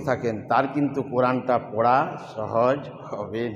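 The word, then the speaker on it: ثاء: সা সা সা সা সা সা সা সা। সিটি উচ্চারণ হবে না, সা এই সিটিটা উচ্চারণ হবে না, তোতলা ভাব।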